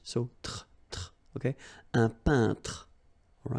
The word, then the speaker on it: peintre: So remember when you get this E-I-N together here, then you pronounce this un sound. So nasal in your nose, un peintre.